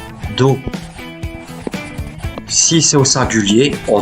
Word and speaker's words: dos: Les autres mots que vous voyez s'écrivent enclos, dos, mais se prononcent enclos, dos.